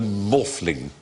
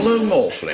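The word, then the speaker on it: Maughfling: Stonehenge whose name is rol morling R morling it's spelled m a u g h f l i n g i sounds like a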